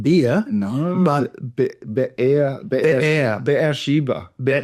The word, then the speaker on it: Beersheba: But Be'er Sheba. Say it quickly like Be'er Sheba. Be'er Sheba. Like the word bear, like the fairy bear, Yeah. Woods. Yeah. Be'er Sheba.